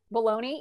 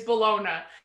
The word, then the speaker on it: bologna: that and i'm like phonetically it is bologna and that's what i